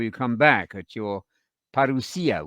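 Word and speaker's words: parousia: come back at your parusia we're using the modern Greek pronunciation because it's a living language or Parisi or second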